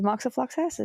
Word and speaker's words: moxifloxacin: The 4-month rifampicin moxifloxacin regimen includes The way you pronounced the second one. that is moxifloxacin.